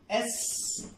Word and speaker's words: SHE: with the help of SHE, with the help of SHE। जैसे बोल रहा हूं, जैसे प्रोनाउंस कर रहा हूं वैसे ही करना है, शी नहीं बोलना है।